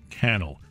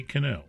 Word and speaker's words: Cannell: you today Steven J kennel don't say canal that's right the guy is you know down-to-earth kind of guy rhymes with channel he is the author